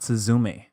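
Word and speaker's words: すずめ: want to talk about suzume uh so yeah the accent on the last syllable suzz Suz um it's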